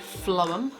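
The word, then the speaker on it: phloem: but this is called Flom it's one of those strange words that with a pH but it's not photo on its lower say it like flow down flow and have some bizarre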